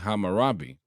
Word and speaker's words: Hammurabi: Dios estaba basada básicamente de la ley de Hammurabi. Sí, así es que se pronuncia.